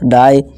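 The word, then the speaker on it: die: जब किसी वर्ड के लास्ट में आई ई आए तो आई ई का उच्चारण आई जैसे ही करें, ठीक है। जैसे देखिए डी है और आई ई को हमने क्या बोला, अभी पढ़ा, आई निकालना है, बस डाई। इसी तरह पाई, इसी तरह टाई, ठीक है दोस्तों।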